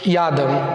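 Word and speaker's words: ידע: Ela pronuncia yada no hebraico.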